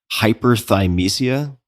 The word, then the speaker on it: Hyperthymesia: to ask you about Tell me if I'm pronouncing this correctly. Hyperthymesia. Am I getting that right? Yeah. Yeah, that's right.